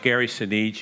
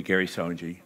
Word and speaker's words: Sinise: screenwriter and says, well, how do you pronounce that? And I said, Gary Sinise. He said, oh, thank you very much. And then the movie, Gary Sonji.